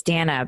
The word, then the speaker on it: Dana: I find in interviews I always tell people at the beginning it's Danna because I don't want